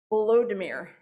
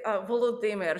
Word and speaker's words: Volodymyr: And so I also hear people say Volodymyr, which makes him sound a little bit like Voldemort. So I would say Volodymyr. So if you can put that accent on the D, then you'll be a little bit closer.